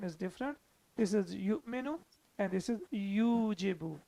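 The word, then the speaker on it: يُؤْمِنُ: are reading it as you menu you may know why because whenever hamza is sakin we have to pronounce it with a small twitch or with a small jerk so it becomes you menu the rule of the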